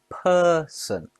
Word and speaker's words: person: Person has 2 syllables. The stress is on per. Person.